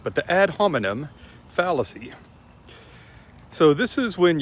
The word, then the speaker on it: ad hominem: the ad hominem fallacy or as my college logic and rhetoric teacher called it ad ominom which i'm always compelled to pronounce it that way and i've never heard anyone else call it that but the ad hominem